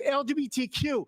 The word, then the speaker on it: LGBTQ: You're looking silly because you're not even pronouncing it right. You're calling it GL, not LGBTQ. It's LGBTQ.